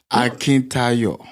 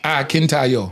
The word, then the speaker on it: Akintayo: He said, he told me, he tried to teach me to say it like I'm singing.